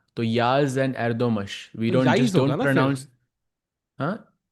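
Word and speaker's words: Yağız: entertaining I think for the player but for Yagas it's it's harder he has to hold and also interesting it's pronounced Yaz Chad is letting us know but I kind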